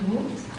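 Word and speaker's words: Voogt: It's actually pronounced VOOGHT.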